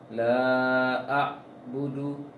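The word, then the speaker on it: لَا أَعْبُدُ: Kemudian untuk ain sukun, kalau kurang dijalankan suara ainnya, maka bisa dikatakan ain itu udah pindah ke hamzah dia. Tadi bacanya la a'budu, memang sudah masuk ke ain, tapi haknya belum, porsi itu ain belum. Ain itu dijalankan sedikit, juga tidak terlalu longgar hurufnya, namun dijalankan sedikit.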